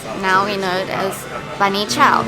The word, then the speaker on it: bunny chow: we know it as bani chao it's called bani though because the english couldn't pronounce banya properly so they said bunny so cool oh my